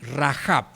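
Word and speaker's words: Rahab: J porque en realidad la H no es muda en el idioma hebreo sino que se pronuncia Y entonces la ponen como J para que la pronunciemos sí rajab no Y esta mujer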